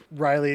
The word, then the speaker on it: Raiiley: And when you pronounce it, it says, but it's Riley.